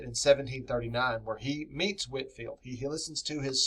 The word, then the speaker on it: Whitefield: like Jonathan Edwards and George Whitfield that's spelled Whitefield but Whitfield brought T emotional passionate